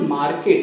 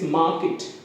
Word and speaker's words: market: Like, generally people say market. It is not market, it's market. Market. R is silent.